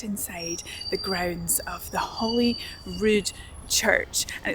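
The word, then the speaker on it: Holy Rude: The pronunciation sounds a little bit like Holly Rude Palace in Edinburgh, but the spelling is actually different. This spelling is R U D E, like the word rude.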